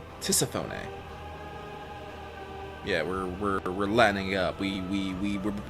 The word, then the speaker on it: Tisiphone: Tisphone? Tisiphone. Yeah, we're lining up. We pronounce everything here.